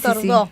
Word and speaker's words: Tordó: Y es Tordó. Tordó, Con acento en la...